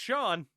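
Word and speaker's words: Chone: Casey Cotchman, Mike Karp, Jose Lopez, Josh Wilson, Shawn Figgins. That's right. That's pronounced Shawn.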